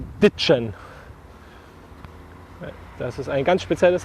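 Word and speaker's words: ditschen: So it's spelled D-I-T-S-C-H-E-N, and it's pronounced ditchen. Das ist ein ganz spezielles sächsisches Wort. With D at the beginning and an N, not a M, but the other one, N. So ditchen.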